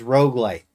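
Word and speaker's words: roguelite: how to spell Rogue r o g u e not r o u g e light this is not the Mulan Rouge this is Rog light yeah Cal before sorer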